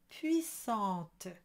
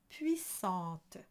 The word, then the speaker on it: puissante: You have two pitfalls there, so you want a good A at the end, but remember it's puissante and not puissante.